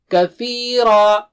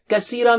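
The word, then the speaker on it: كثيرا: Kathira, Kathira, Kathira, Kathira. Kathira means a lot. Kasira means broken or something. So the meanings change drastically.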